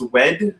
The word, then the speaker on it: WED: Is it pronounced WED? W-E-D? Yeah.